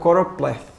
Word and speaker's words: choropleth: Ele é o choropleth, tá? Choropleth. Não é cloro, um choropleth, ele é um mapa que usa municípios, ou estados, ou condados, ou regiões, ou países, tá?